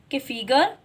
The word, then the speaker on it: calf: CALF कॉफ. बेटा इसमें L silent होता है.